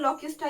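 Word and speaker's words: Locusta: लॉक्यूस्टा को हम लोग जो जनरली किस नाम से जानते हैं, लॉक्यूस्टा ही कहते हैं, लॉक्यूस्टा। देखो यहाँ पर स्पेलिंग सेम है बट यहाँ पर प्रोनाउंस अलग करते हैं, यहाँ पर लॉक्यूस्टा कहते हैं, इसको लॉक्यूस्ट कहते हैं।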